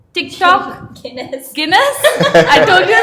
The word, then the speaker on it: Guinness: oh my God some of it I cannot pronounce uh your next Carling which is a beer apparently uh McLaren wow PlayStation jness Tik Tok Guinness Guinness I told you right I told you